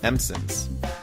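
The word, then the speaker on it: msemen: you've got these crispy empson's which is yeah yeah you're right I actually looked up how to pronounce this word is coming Empson and it's Moroccan flatbread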